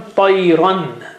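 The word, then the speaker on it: طيرا: Now the word has become tayran, because it was tayra, and you join noon sakin there, tayran, but this noon sakin is sitting on the top of the fatha there.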